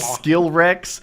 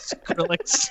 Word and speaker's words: Skrillex: Did I say it wrong? That's Skill Rex. How do you say it? Skrillex.